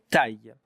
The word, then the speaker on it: taille: Une taille. Look at how to pronounce it now. Taille. T-A-I. Taille.